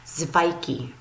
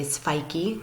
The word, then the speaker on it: Sveiki: And so you pronounce that Zvaiki. So you would say Sveiki to those in Latvia to say hello to them.